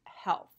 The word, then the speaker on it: HLTH: health conference no it's not HL th it's pronounced health the first ever health conference was a huge